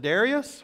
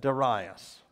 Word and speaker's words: Darius: Now you can pronounce it Darius or you can pronounce it Darius.